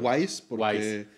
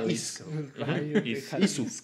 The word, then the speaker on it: Ys: Muchos me decían Wise porque pues en inglés eso sería lo correcto. Como Ryu. ¿No? Ryu. Pero exacto. Pero en japonés se escribe efectivamente Isu.